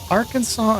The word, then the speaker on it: Arkansas: Arkansas and Kansas are both named after the Katsson Native American tribe. French named the former, so the S is silent.